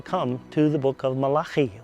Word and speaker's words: Malachi: to the book of Malachi, or Malachi as it's pronounced in English.